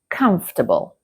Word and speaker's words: comfortable: The correct pronunciation is comfortable. Uh repeat after me. Comfortable. Again. Comfortable. As you can see, there's lots of letters in this word that we do not pronounce.